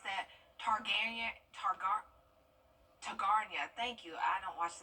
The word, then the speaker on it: Targaryen: How do you pronounce that? Targaryen.